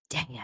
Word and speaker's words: Dea: Dea. Dea is how you say it.